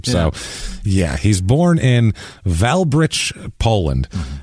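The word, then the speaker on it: Wałbrzych: I looked it up it's valb in English is how you say it but wow there's not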